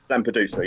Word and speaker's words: Lampedusa: And first of all, how do you pronounce the last track, Lampedusa? Lampedusa, yeah.